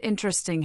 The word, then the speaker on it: interesting: The word interesting has stress on the first syllable, ing.